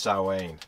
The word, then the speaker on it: Samhain: Pronounced Samhain.